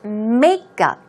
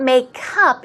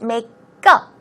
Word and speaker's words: makeup: look at the pronunciation obviously the stress goes on the first syllable so it's makeup now notice it's not makeup it's makeup go it's a go-go